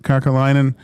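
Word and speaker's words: Kekäläinen: Kakalainen.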